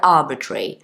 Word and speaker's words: arbitrary: word is arbitrary so the pronunciation it can be a bit tricky because you've got so many r's so many Arts so ah betray but when you say it quickly it just sounds like arbitrary like like a tree